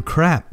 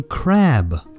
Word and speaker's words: crab: this important let's see what happens when we pronounce it wrong what do you want for dinner I'd like some crap please gross that's not right I mean I'd like some crab please do you see why it's so important